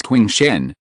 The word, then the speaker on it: Qing Shen: My name is Qing Shen, the Shen of cautious, Qing Shen explained.